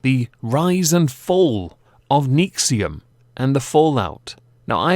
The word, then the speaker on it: NXIVM: indicate it is but it is pronounced nexium which to me is